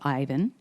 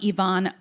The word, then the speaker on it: Ivan: Let's go with somebody named Ivan, spelled Ivan, pronounced Ivan, Miguel Rosado Rivas.